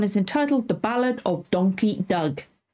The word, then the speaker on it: Donkey Doug: entitled The Ballad of donkey Doug I've been saying that over and over again to make sure I say it right cuz I kept wanted to say donkey Doug or donkey dog I don't know why